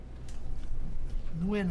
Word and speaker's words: Nguyen: Nguyen is the way they pronounce it, Nguyen, which every Vietnamese is named, every single one of them.